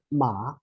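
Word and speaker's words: 吗: And then when we pronounce this one, the whole character ma, is actually neutral tone.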